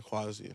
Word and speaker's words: Kwazii: It's Quasi.